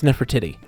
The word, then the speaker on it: Nefertiti: It's mispronounced, Nick. It's Nefertiti.